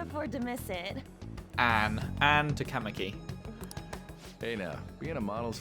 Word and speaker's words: Takamaki: I was pronouncing it Takamaki. It's Takamaki. Or I may have already forgotten how I pronounced it. I think the emphasis was on the cat.